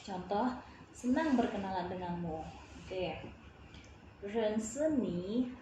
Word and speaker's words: 认识: Oke, rense ni, rense ini kan huruf R ya, huruf R tetap bacanya R biasa ya, rense ni, koma, wo, saya, wo hen kaoxing, saya sangat senang.